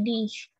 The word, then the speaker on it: Dich: Dan di sini Dich, dibacanya kayak ada S, ada H-nya gitu, Dich.